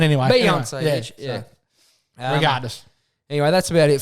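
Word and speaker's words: Beyoncé: her name is spelled but it's not Bay on either it's Beyonce but anyway beonce regardless anyway that's about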